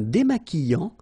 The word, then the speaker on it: démaquillant: So we've got this Q-U, but then U is not pronounced. So you get the sound qui. Okay, and then remember, double L after E will give you the sound y. Démaquillant. Final T not pronounced.